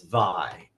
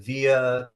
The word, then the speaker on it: Via: It's vi. Great. So it's like vi, long a. I mean long i. The a is silent. I hear via probably 99% of the time and it just goes right over my head.